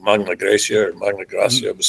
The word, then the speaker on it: Magna Graecia: And southern Italy was I'm going to get my pronunciations wrong. Magna Graecia or Magna Graecia. It was southern. Magna it was Greek. Greca. Magna Greca.